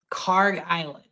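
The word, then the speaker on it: Kharg Island: Karg Island.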